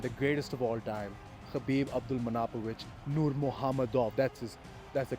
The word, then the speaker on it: Khabib Abdulmanapovich Nurmagomedov: number one and the greatest of all time, Khabib Abdulmanapovich Nurmagomedov. That's the correct way to pronounce his name.